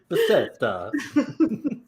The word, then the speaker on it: Beseda: Beseda.